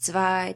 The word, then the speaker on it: zwei: And that letter at the beginning is not a Z, it's a zett, right? And then we have "w", "w", so your word is zwei. Zwei. Zett, "w", and the diphthong ei.